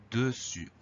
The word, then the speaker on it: dessus: On a un U et on va avoir un S muet. Donc le S muet, il faut absolument le photographier, le retenir, parce qu'on l'entend pas et je connais pas de moyen de s'en souvenir.